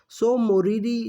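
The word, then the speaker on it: Tso Moriri: है सोमीदी सो basically यहां पे जो टी है वो साइलेंट होता है और शो मिंस का यहां लेख के लिए ये वर्ड है जो तिब्बतन वर्ड उसे किया जाता है सो मुरीदी जो लेख है वो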